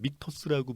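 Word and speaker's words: Michter's: 위스키 말씀하시는 거죠 발음을 잘해야지 또 뭐 잘못하면 미쳤어 이렇게 뭐 맞는 말이지만 그것도 이제 수입사에서는 미터스라고 보통 얘기를 하더라고요 다음은 미터스에 대해서 알아보도록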